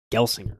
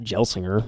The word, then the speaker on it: Gelsinger: I wonder how we can figure out, Mike, what that's supposed to be pronounced like. Yeah. Let's give this a shout. Gelsinger.